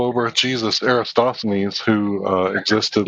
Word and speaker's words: Eratosthenes: Just so you guys know, it's Eratosthenes. I'm pretty sure. Like aerodynamics.